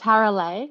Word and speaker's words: Tarale: It's Tarale, like lay down.